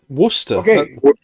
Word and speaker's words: Worcester: the word the word oh it's Worcester Source what Worster come on yeah yeah it's not spelled like that but that's how we say it w so you'll have